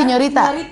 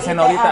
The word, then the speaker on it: Señorita: Tapi benar sejak diazanin Namanya Iya, Señorita. Katanya- tapi ejaan itu Indonesia SIN. Oh, bukan Senorita.